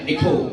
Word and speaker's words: Eco: Eco tulisannya bacanya Eko.